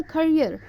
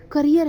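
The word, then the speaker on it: career: तो इट्स अ करियर. आपका करियर है ये, कैरियर नहीं है.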